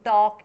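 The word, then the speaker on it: talk: Don't टॉक इन the class. Don't टॉक। ठीक है? L silent रहता है।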